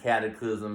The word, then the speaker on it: Cataclizm: People can find you on SoundCloud, Instagram, Cataclysm. It's spelled like it sounds. Don't forget the Z in the end.